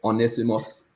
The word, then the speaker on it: Onesimus: pronounce this, Mikey, Onesimus, how would you pronounce that name? Yeah, that's correct, Onesimus.